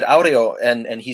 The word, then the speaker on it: aureo: tell these two stories and so i said audio and and he said isn't it pronounced arrow because it's like wind like air and then